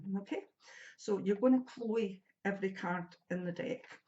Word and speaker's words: CHLW: a female's name, and that name's Chloe, but it's not spelled like Chloe, it's CHLW, Chloe.